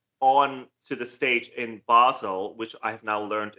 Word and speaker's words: Basel: she brings that on to the stage in Basel which I have now learned is the way to pronounce the city it is if she brings